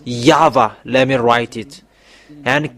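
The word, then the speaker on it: Yahweh: This name Yao don't enter India for the next time. You have seen the teaching. You have seen the source about the real name. The true name is Yava.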